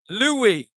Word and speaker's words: Louis: Louis. Louis with a silent S.